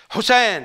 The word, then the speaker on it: حسين: في ترديد لفظه حسين في بعض المجالس لا تسمع كلمه النون بسهوله يقولون حسين حسين حس لكنهم يلفظون النون حسين حسين للسرعه فان نون لا تسمع فتلفظ الكلمه وكانهم يقولون حسين هم يقولون حسين ولا